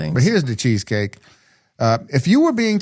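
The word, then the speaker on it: Dachezkake: This is from the the cheesecake pronounced like the cheesecake.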